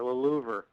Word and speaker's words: Louver: Sure, Louver. Louver. Right, just like Okay. the louvered windows.